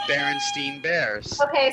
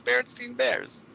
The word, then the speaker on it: Berenstain Bears: went every day i always thought and pronounced and heard it being pronounced as berenstein bears that's one of them yeah that is the berenstein if you look at it it's spelled there and stein bears and you're like what's berenstain bears stein so they say